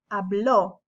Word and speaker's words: habló: If you notice, there's an accent on this o, and it's said, pronounced differently. There's an emphasis on the o, habló versus yo hablo, right? Él habló, yo hablo. You heard that? It's different.